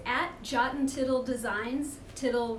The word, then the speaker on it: Tittle: Tittle rhymes with little.